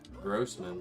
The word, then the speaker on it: Grossman: Grossman, that rhymes with Brosnan.